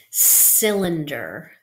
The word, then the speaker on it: cylinder: can see behind me whenever you have C with y after it this C makes this sound so we have SIL